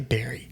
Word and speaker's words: bury: How do you say bury? Bury. Bury. Like Manilow. But it's bury. got a U in it, so it makes me want to say bury.